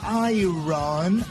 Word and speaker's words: iron: few people in this country know how to pronounce the words iron iron iron embedded i run i run is iron yeah yeah i ion